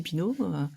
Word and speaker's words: Pineaud: bah, oui, oui, oui, allez-y, abonnez-vous, la chaîne c'est Pinault, comme ça se prononce avec un D à la fin.